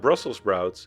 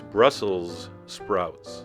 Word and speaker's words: Brussels sprouts: very nutritious and remember it's not brussel sprouts it's brussels sprouts and please do not